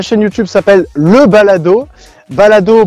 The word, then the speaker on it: Balado: Balado, B-A-L-A-D-O, comme ça se prononce.